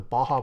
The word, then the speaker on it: Baja: It's pronounced Baja. I know it's Baja, but it's an inside joke in the Taeha type server.